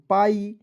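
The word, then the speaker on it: pie: है उसके बाद देखिए पी आई ई को पढ़ेंगे दोस्तों पाई उसके बाद देखिए टी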